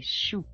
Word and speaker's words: choux: There are also words that take an X, and this consonant X is not pronounced. For example, a cabbage, un chou, cabbages, des choux. Un hibou, a hole, des hibou, holes. The letter X is silent.